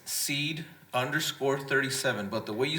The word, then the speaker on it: Cede: So seed is pronounced seed, like you plant a seed, like Brother Raymond Rios did, right?